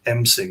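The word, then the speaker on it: M'sing: It's just called ming. It's like m apostrophe s i n g.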